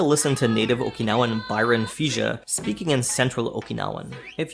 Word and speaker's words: Fija: Interestingly, Byron's surname, Fija, is the Ryukyuan pronunciation of the most common surname in Okinawa itself, Higa.